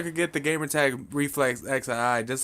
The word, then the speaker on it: XII: But yeah, XII is how I pronounce it. I pronounce every single letter.